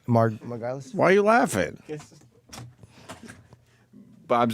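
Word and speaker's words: Margulies: It's called Andy Kaufman, The Truth, Finally, by Bob and Lynn Margulis. I guess is how you say her name? Right. Margulis?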